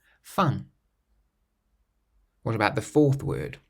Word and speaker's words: fin: The next word, which means end, fin, fin.